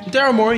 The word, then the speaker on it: Daryl Morey: Daryl Morey, that's how you pronounce his name? Daryl Morey, yes, correct.